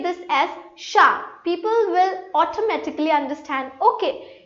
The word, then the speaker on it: chat: But if I pronounce this so I'm giving it is a sound. So it is sha. So the words they are written differently and they are pronounced differently. And in French politics are like very important because if you say this as chat people are not going to understand what are you speaking about.